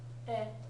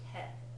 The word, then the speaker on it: へ: Right, and because it's that particle, it's gonna be pronounced e, not he, right?